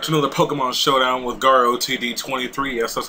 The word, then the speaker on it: GarOTD23: Hey everybody, welcome back to another Pokemon Showdown with GarOTD23. Yes, that's how you say my name. Please don't get it wrong anymore, guys. I know it might be a little confusing, but it's GarOTD23.